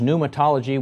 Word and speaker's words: pneumatology: being known as pneumatology that is pneumatology with a a silent p on the beginning the reason that it